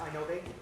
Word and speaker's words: I-Novae: It's pronounced I-Novae? Yeah, it's I-Novae. I say I-Novae. My partner's French, so we have a crazy spelling for it.